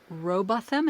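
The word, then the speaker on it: Rowbotham: that you offer in your book from Sheila roboam is that how I say her name yes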